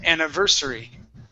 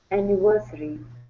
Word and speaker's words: anniversary: to this word here the word is anniversary instead of uh let's see yeah uh come up a punch a little bit more on that ver sound anniversary anniversary okay all right give me a good r at the end as well anniversary anniversary okay good